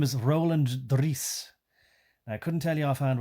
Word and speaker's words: Roland Driece: And I'm pronouncing it in a Dutch rolling my R's way because they like to do that. Mr. Roland Driece is since, and the way he's written it, right?